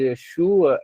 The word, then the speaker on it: Yeshua: Veja, a vogal da primeira sílaba de Yeshua é tserê. A sílaba tônica é shu.